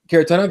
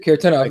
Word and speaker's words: Kharitonov: Kharitonov, is that how you say it? Kharitonov, yeah.